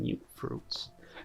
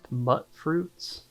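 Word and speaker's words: Mutfruit: Some mute fruits. Now, I used to think these were pronounced muts, but I guess it's mute fruit.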